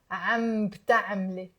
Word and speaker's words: عم بتعملي: You attach it to the am.